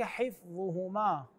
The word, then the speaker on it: حفظهما: يؤوده يؤوده غير صحيح كذلك حفظهما وليس حفظهما الظاء هنا مضمومه في الايه 256 قد